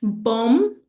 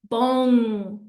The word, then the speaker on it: bom: So instead of saying bom, I'm going to say bong.